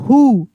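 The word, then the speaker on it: who: सी के rake rake W एच एच ओ हु डब्ल्यू एच ओ एम हुम डब्ल्यू एच आई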